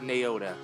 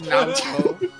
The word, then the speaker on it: Naoto: would be Chi or Naota. Maybe I should read chat. Maybe I should read Twitch chat. Sorry, it's Naoto. Now I'm gonna call her Naota.